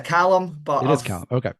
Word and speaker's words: Calum: It's Callum, but it is Callum. Okay. It's been mispronounced much worse than that in the past, so I wouldn't worry too much.